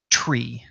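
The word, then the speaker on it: three: The number 3, the official phraseology for the number 3 in the world of aviation is, or the official pronunciation I should say, is tree.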